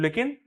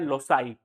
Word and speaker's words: loci: लेकिन अगर दूसरा शब्द इसका निकालना चाहे तो दूसरा शब्द क्या बनता है? LOCI। ठीक है, क्या बनता है? LOCI। इसको लोकी मत पढ़ना, इसका प्रोनाउंसिएशन होता है लोसाई।